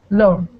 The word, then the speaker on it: Lauren: So Lauren, which syllable is stressed? Oh, First. Lauren. That's right, the first syllable.